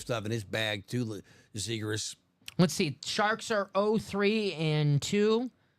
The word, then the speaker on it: Zegras: Trevor Zegras, yeah.